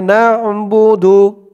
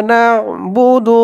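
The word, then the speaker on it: نَعْبُدُ: নুন দিয়ে আইন ধরবে আইনের উচ্চারণটা গলার ভেতর থেকে শক্ত হয়ে বের হবে ইয়াকাবুদু ইয়াকাবুদু ইয়াকা নাবুদু ইয়াকা ইয়াকা নাস্তা এখানে উত্তীর্ণ আলিফ টান মধ্যে আরজি নাস্তা ওয়া ইয়াকা নাস্তাাইন ইয়াকা নাবুদু ওয়া ইয়াকা নাস্তাাইন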